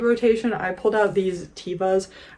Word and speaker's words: Teva: Also in the old rotation, I pulled out these Tevas. I think it's actually technically pronounced Teva, but my entire life I've said Teva, and Teva sounds stupid to me.